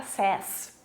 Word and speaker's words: says: Porém, para he, she, it, a pronúncia troca para says, tá?